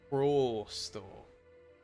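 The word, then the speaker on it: просто: Prosto. Like in Spanish, it's oh. Prosto. Prosto.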